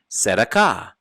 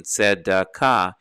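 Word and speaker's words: צדקה: Like the famous Jewish entertainer Neil Sedaka.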